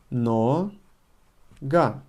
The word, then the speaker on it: нога: Emphasis falls on a because o is not emphasized. In one word we only have one emphasis always. Нога. And because o is not emphasized, it's pronounced as a. Нога.